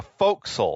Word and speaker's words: forecastle: The forecastle. Yeah, the spelled forecastle, pronounced forecastle. Forecastle. So that's in the British English tradition of pronouncing words with more letters like they have far fewer letters than they have.